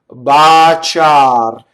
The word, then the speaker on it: baciar: What they do is, the bigger mistake is to put doubles where they're not in Italian, right?